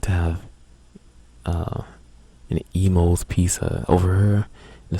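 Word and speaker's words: Imo's: to have uh an emo Pizza over here in the St Louis area we have a chain of restaurant pizza of restaurants called Emos it's spelled i m o apostrophe s and their Pizza is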